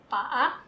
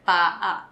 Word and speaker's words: paa: Paa. That's it. Yes. Now same, don't blend. We don't say pa. We say paa.